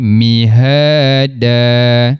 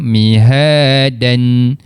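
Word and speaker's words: مهادا: Jadi mihada cuba mihada. Betul. Kita tak jelaskan tanwinnya. Kita tak baca mihaan. Kita tak matikan pada huruf dal mihada.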